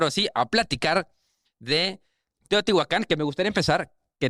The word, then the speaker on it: Teotihuacán: te aparece Teotihuacán con acento en la A, en la Ujú.